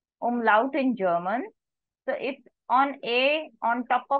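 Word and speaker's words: Umlaut: of it these two dots are called as umlout a u m l a u t umlout in German so if on a on top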